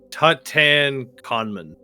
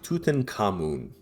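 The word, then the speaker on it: Tutankhamun: Uh Tatan Conman. Very close. Yeah. Tut Tuten Kamun.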